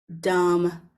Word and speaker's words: dumb: middle of the word, you know that the B is silent and we don't pronounce it.